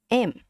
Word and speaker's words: em: Similar to how you say this. M. M. Right. In English, we say M, but then you drop the M, just say M. It's like how you say this letter in English, M. And then zip it. There's no ending sound.